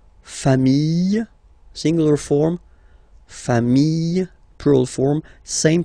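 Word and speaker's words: familles: the plural form okay remember singular form sh same pronunciation but you put this s okay final s not pronounced fam singular form fam plural form same pronunciation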